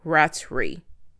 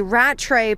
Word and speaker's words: Rattray: The second one is a 49-year-old teacher by day and a pastor by night or weekends, Bensley Rattray. I think that's how his last name is pronounced.